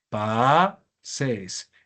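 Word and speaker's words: πάσης: Se convierte en oxea porque la última sílaba es larga. Pases.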